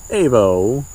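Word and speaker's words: Aivo: It says Ivo, Evo, Avo, however that is pronounced. A-I-V-O, Avo.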